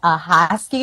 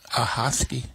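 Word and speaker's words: Ahoskie: get so I'm from a small town called aosi North Carolina um so shout out to all my North Carolina folks who are listening how do you spell that a hosy a h o s k i e okay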